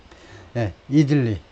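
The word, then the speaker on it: idli: 그리고 카멜라 해리스가 이 Southern Indian dishes를, 요리들을 굉장히 좋아하는데, 예를 들면 이들리하고 도사스가 있는데, 이들리, 이쪽은 앞에다 액센트 들어서 이들리라고 발음을 하고, 영어에서는요, 그 다음에 도사스, 이것도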